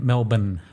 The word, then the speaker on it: Melbourne: you call it Brisbane Brisbane a lot of Americans say Brisbane okay and Mel Bayne haha 80ml born yeah it is Brisbane and Melbourne Melbourne yeah we got it see I told